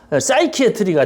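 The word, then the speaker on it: psychiatry: 그래서 이걸 가르쳐서 이것을 합성어로 만드니까 P자는 묵음이니까 사이키아트리가 되잖아요.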